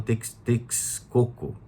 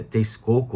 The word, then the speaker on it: Texcoco: Quando a civilização asteca ela começou a se desenvolver, ao longo do lago Texcoco. Eu posso estar equivocado da forma como se fala, mas é Texcoco ou Texcoco, ou Texcoco, acredito.